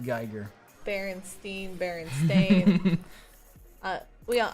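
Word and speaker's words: Giger: here tiger you know it's pronounced geiger berenstein bearing stain uh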